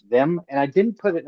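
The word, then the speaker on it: Veym: Yeah, it a lot of people say Vam. Um I didn't actually put a pronunciation in there. To my internally, it's uh it's Vam.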